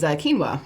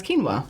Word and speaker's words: quinoa: one that turned up in an audiobook was quinoa. I did not know how to pronounce quinoa. I just looked at it the way that it's spelled and could pronounce it quinoa.